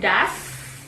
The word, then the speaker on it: does: Tambahkan das, ini bacanya das ya, das.